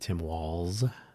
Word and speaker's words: Walz: Some people pronounce it Waltz, and there is I want to say German, but there's a European pronunciation of his name that does include a sort of a TZ. So I believe he pronounces it Tim Walz, like a plural of a wall, which is, of course, everybody's favorite topic lately.